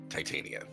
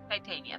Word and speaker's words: Titania: I'll say yes the true uh the true pronunciation is Titania yeah Titania thank you well for for this for this